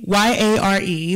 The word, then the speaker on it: yare: way fearfully is used in this passage is yahrae y-a-r-e but pronounced yare and that means by definition to